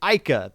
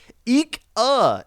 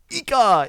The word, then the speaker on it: Ika: the eat on pyre I don't want to say ICA because I feel like I'm gonna get attacked but I did see them tweet out it is pronounced eek uh Empire so you know I'm